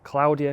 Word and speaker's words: Claudia: I've come down the first time after we had storm Claudia or Claudia, whichever way you want to pronounce it. Apparently the correct pronunciation is Claudia because it's a Spanish name.